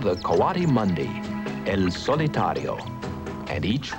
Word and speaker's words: coati: a doubt very unusual this is a kawadi you might have heard him called a Cody since his name is spelled c-o-a-t-i he's called other things